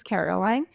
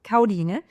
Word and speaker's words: Karoline: As mentioned, my name is Caroline, or as it's pronounced in Danish because I'm from Denmark, Karoline, but I go by Karo, and it's just easier for everybody.